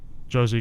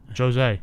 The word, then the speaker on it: Jose: Yeah, I think Josie gets this one done. I just don't see Jeremy. Are you sure it's Josie? Jose.